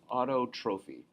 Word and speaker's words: autotrophy: Autotrophy. Yeah, autotrophy is how you say that, pardon me.